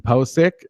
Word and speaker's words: Pocic: uh Center guard Ethan posk and that's a pronunciation that I've gotten off of I think his draft profile or off of Twitter a reliable Twitter Source POI um they've taken